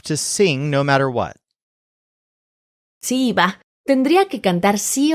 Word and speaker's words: si iba: And this is actually really tricky to hear because the phrase si iba is pronounced exactly like si va, literally if he or she goes.